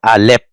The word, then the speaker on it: Aleph: Aleph or Aleph doesn't matter, because the P and F in Hebrew is the same letter.